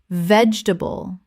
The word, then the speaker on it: vegetable: Vegetable. 3 syllables in natural speech. The middle syllable almost disappears.